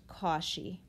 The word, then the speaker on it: Cauchy: hear his name again definitely but it is pronounced kashi kashi's bound a bound is just like an